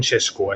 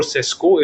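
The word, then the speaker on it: Šeško: And why wait for 2 weeks for Sesko is because Sesko, Sheshko, I think its pronunciation is Sheshko, so I'm just gotten used to that.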